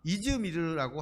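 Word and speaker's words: İzmir: 도시가 딱 하나 있어요 그게 서멀합니다 서머나를 원어 발음으로 하면 스미르라라고 하는데 이걸 트루키의 식으로 하면 이즈미르라고 한다고 해요 이즈미르는 지금도 터키 트루키의 3대 도시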